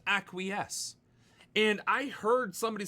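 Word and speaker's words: acquiesce: Acquies. When I first encountered that word, it was in a book, so I called it acquis. If you acquize with the enemy, you know, you you might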